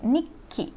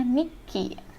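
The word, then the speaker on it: にっき: Ini kalian baca menjadi nikki. Kenapa? Karena huruf ya setelah tsu kecil ini yang jadi double. Ya, huruf kecil setelah ki ini yang double. Jadi makanya di sini sebutnya nikki.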